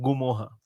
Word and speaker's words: Ngumoha: सवाल ये पहले तो इसका नाम है गु मोहा बहुत सिंपल है गु मोहा ठीक है लेकिन एन एन जी यू एम ओ एच A that is he spelling गुम ओहा गुम ओहा गुमो गु मोहा ओके थ्री सिलेबल्स गु मोहा ठीक है मैं मैं